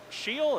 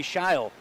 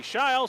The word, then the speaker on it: Scheele: on the assistant coach it is actually amy scheil amy shiles so there you go